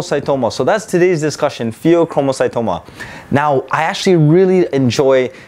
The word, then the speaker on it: pheochromocytoma: so that's today's discussion pheochromocytoma now I actually really enjoy teaching as well as when I was a medical student learning what the pheochromocytoma but one thing is it rhymes with promo sort of read like